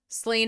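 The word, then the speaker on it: Slane: Okay, so if it's spelled Slain Theocracy, Slain S-L-A-N-E, I have no choice but to think about it like the whiskey.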